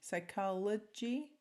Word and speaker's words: psychology: not phonetically duplicated right the first y sounds like an i the second y sounds like an e the first o sounds like a right and this Psy l G psychology psych right different sounds